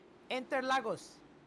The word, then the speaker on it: Interlagos: Interlagos.